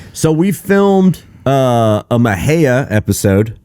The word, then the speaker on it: Mexia: we filmed uh a Maha episode Y and for those that have no idea where that is look for Mexia on a map you'll be like oh okay meia and then say it right and then say it